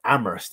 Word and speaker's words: Amherst: So Amherst is how you say it. No, sorry, the H is silent. H. Yeah. Amherst.